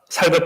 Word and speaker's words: 살: 여기서 제가 왜 이걸 이야기하는가면요.이 이 육신이라는 단어가 사르크스라는 단어 쌀 발음을 잘 해야 되는데 아 쌀 말고 살 피부 예 자이 살은